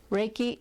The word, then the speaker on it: Reiki: anyone who has the desire to heal others Reiki is pronounced ray like as in our a Y